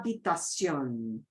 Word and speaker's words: habitación: And notice, because we don't pronounce the H, the H, right? La habitación, when you say it all together, the A from la slides into the habitación.